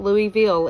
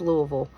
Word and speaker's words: Louisville: Um, and in case you're wondering, it is not Louisville, it's Louisville. Everything is ran together. That's just how we talk.